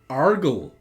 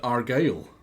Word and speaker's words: Argyle: Now, if I was Blobber, I would attempt to pronounce this name as Argle. Now, would you guys call this dude here Argle? Or is that an incredibly stupid way to pronounce that, and he's clearly called Argyle? Argyle, exactly. Looking for ways to I